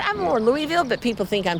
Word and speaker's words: Louisville: It's Louisville. I'm more Louisville, but people think I'm saying it wrong.